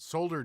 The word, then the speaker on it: solder: solder oh that's weird solder just does not come off the tongue right we always pronounce the l in the uk solder sounds a bit